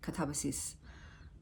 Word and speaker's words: Katabasis: And I actually then looked up an interview with the author and she said actually that's how it's pronounced, Katabas.